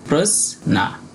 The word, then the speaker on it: প্রজ্ঞা: চলে আসছি পরের উদাহরণে এখানে আছে দেখুন প্রজনা এটা যদি আমরা কোন বাংলা বইয়ে পাই তাহলে আমরা এর উচ্চারণটা করি সাধারণত প্রজ্ঞা কিন্তু যদি সংস্কৃত কোন গ্রন্থে পাই তাহলে তাহলে আমরা এর সঠিক সংস্কৃত উচ্চারণ করবো প্রজনা এখানে জোগ ইয় রয়েছে